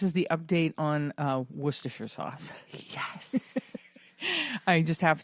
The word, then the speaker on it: Worcestershire: let everybody know here is how you say Worcestershire sauce Worcestershire sauce so there you go you don't have